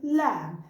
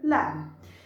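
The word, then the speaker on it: لام: Three letters we pronounce them from our tip of the tongue, and today we'll know them. The first letter today is lam. This is the letter lam.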